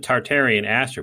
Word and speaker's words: Tatarian aster: because because it's it's we pronounce it tartarian aster but there's no r in there like it's t-a-t-a-r and